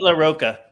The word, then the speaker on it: LaRocca: Now, how do you pronounce his name, Brendan? Pete LaRocca.